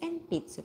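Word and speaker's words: えんぴつ: This one, pencil, is enpitsu, para malayo. Enpitsa. Yan na, enpitsu. N-N-P? So, it should be M in pronunciation, mama, not nana.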